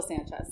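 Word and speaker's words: Sancious: sanchez sanchez yes well it's pronounced it's spelled like s-a-n-c-i-o-u-s where i think it's still sanchez sanchez okay yeah original keyboardist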